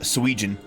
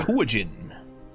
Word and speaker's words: Sahuagin: So yes, you know the name, you just can't decide on the proper pronunciation. What's the goofiest sounding one? I will just say that. Swegian.